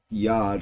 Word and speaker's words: Yaad: yeah it's a uh it's Yad or I believe that's uh the term the pronunciation it's Hindi for remember or in memory and